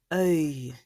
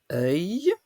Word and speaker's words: œil: Œil ne s'écrit pas EUIL. Ça s'écrit œil, E dans l'eau, IL.